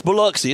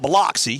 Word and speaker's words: Biloxi: And it's Biloxi. It's not Biloxi. For all you northern people here don't know how to pronounce it.